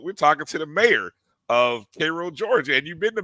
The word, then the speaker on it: Cairo: make sure I say it right it's called pronounced Cairo not Kairos okay Cairo Georgia but he's also the assistant